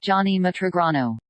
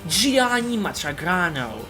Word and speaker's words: Gianni Matragrano: Johnny Matragrano. That's right, Gianni Matragrano.